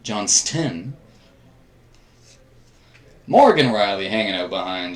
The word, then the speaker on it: Johnston: A ton of people mispronounce that. Johnston.